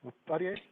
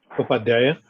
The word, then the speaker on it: Upadhyaya: And how do you pronounce the defendant's last name? Upadhyay? Upadhyaya.